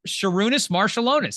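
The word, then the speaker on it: Šarūnas Marčiulionis: They do have pronunciation, so we should be able to get this. Marshallonis. Sarunas Marshallonis.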